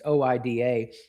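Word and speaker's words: οἶδα: Well, the Greeks had a word for that called Oida, or different ways you pronounce it. It's Oida.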